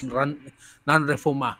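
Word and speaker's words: non-refoulement: Okay, the core principle is the principle of nonrefuma. Okay, that's the pronunciation there. It's nonrefuma.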